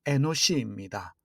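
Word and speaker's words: אנוש: 에노스의 히브리어 발음이 에노시입니다.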